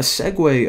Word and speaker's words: segue: click the button now a segue of course that's how you pronounce that word actually didn't even know